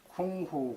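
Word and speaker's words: 工夫: 공부의 중국어 발음은 쿵후 쿵푸입니다.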